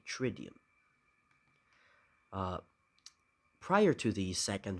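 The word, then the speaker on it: Triduum: it tridium let's see how do you pronounce this trium tridium okay tridium uh prior to the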